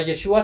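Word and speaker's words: ישו: Actualmente, a Yeshua se le conoce también por el nombre de Yeshu, omitiendo el agutural Ain.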